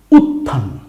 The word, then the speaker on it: উত্থান: Double উচ্চারণ হবে। কার থ এরকমের বর্ণ আছে এখানে কি? খেয়াল করি। উত্থান।